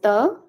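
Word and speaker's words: ত: This ta is a very soft ta, which you will be pronouncing by touching your tongue to the back side of your upper teeth.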